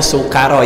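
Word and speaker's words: سُكَارَى: Dibacanya sukaro ya, sinnya pakai sin kecil, bukan sinnya pakai titik. Kalau sinnya pakai titik artinya syukur, tapi lamun sinnya pakai sin kecil itu artinya mabuk.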